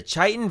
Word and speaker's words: chitin: It's pronounced chitin.